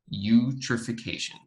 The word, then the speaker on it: eutrophication: hard word to say the e is silent so you troph ph you trophic asian eutrophication and this is creating